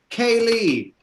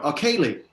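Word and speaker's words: Ceilidh: pronounce them. Kaylee. Where'd you go? Kaylee.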